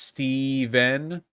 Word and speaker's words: Stephen: good reason too now stephen miller it's pronounced steven stefan miller thank you